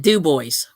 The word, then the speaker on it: Dubois: there's a city in Pennsylvania um that's called it's spelled Dubois but they call it Dubois would be correct yes right right so anyway